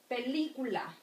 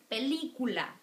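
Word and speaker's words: película: sounds stronger all right so like in here pelicula pelicula if you repeat the word pelicula you'll notice that the stress vowel is there it's so we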